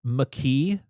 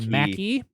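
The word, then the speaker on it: Makee: uh pronunciation of uh it's mckee not like mackey i watched all the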